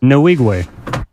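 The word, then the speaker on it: Nwigwe: about it sure is no wigwe he got the correct pronunciation thank you no wigwe are you looking for me I'm sorry I'm sorry what is it Evan no wigwe guru no wigwe you're you're accenting a different portion of it so I got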